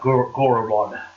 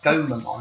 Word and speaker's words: Gomamon: want this game because I want to have Goramon." What? Crap, I said his name wrong. You said Goramon. What's the fish name again? Gomamon.